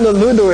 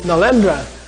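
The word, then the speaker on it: Nalanda: about and i said no it's not ludo it's nalendra he says we'll spell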